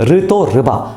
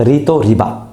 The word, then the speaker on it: Rito Riba: मतलब उनके नाम का जो लास्ट सिलेबल है वो है रि, एंड अकॉर्डिंगली रीतो का नाम ऋतो है, ऋतो रिबा, नॉट रीतो रिबा।